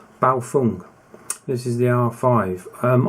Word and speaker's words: Baofeng: the radio the uh bow Fung I've been told off for saying it wrong so it's a b Fung this is the R5